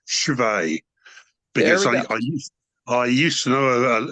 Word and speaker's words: Cwej: last name um Chris's last name should be pronounced chave because I used to know a girl I